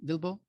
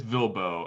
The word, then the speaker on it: VLBO: how do you say that vlbo lbo uh bilbo it's vilbo and that was kind of on the back